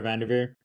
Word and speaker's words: VanDerveer: I forget how to pronounce her name. Y'all forgive me. Tara Vanderveer.